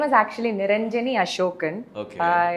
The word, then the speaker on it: Niranjani: My name is actually Niranjani Ashokan. Okay. எல்லாரால கரெக்டாக pronounce பண்ணுறது இல்லை, தப்பாக ப்ரொனவுன்ஸ் பண்ணுவாங்க. சொல்லுவாங்க, இந்த மாதிரி லாட் ஆஃப் திங்ஸ்.